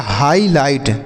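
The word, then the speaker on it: highlight: आई से पढ़ेंगे हाई जी एच यहां पर साइलेंट होता है एल आई से पढ़ेंगे लाई और जी एसटी को पढ़ेंगे ट तो लिखा गया हाईलाइट क्या लिखा गया हाई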